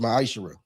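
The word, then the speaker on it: ma'aser: Means 10th in Hebrew and is pronounced ma'ashera.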